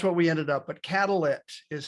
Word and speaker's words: Catalyit: process but that's what we ended up but catalit is how we pronounce it yeah so so basic catalyst to